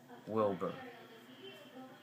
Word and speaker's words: Wilbor: His name is spelled W-I-L-B-O-R. Wilbur.